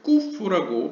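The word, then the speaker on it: ק: 혹자는 이제 쿠프를 약간 카프랑 구분하려고 이제 꾸프라고 발음하는 사람도 있습니다.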